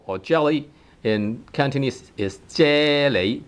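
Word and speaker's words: 啫喱: Jelly, either tone 1 or tone 2 if it is a borrowed word. So jello or jelly in Cantonese is 啫喱, 啫喱喱啫喱 jelly or jello, 啫喱.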